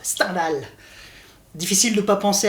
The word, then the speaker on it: Stendhal: 6 jeux mais stendhal bon ça ça se prononce stendhal en vrai mais sternal sa claque